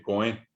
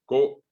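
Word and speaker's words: ko'ẽ: Co, fíjense que allí está el puso. Si yo no pronuncio, no separo la voz, probablemente voy a decir coe, y no es coe, es coe.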